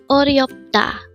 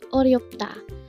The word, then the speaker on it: 어렵다: 어렵다. Again, it's 어렵다. This pronounced as a three-syllable word. The first syllable is 어, second syllable is ryop, and third syllable is da. Pronounce it with me. 어렵다.